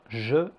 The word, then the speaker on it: je: la lettre E dans je et le. La lettre E est généralement prononcée E. Par exemple, me, te, le, je. Ce son existe en fait en anglais, par exemple dans verb ou encore bird.